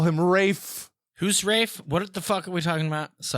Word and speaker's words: Ralph: It's It's Rafe. It's not Ray, I told you it was Rafe.